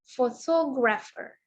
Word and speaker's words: photographer: Oke, kata yang kedua, photographer. Jadi kita menekankan pada silabel yang kedua.